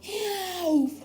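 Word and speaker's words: já: For example, yaw or yes, which is yaw in Icelandic. They usually say it like yaw. Like, I don't know, it's like they are catching their breath or something. They say it yaw.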